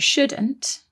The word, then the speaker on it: should: one more thing about shouldn't and should is that they contain another silent letter don't they there is a silent l in there s h o u l d should that's right we've got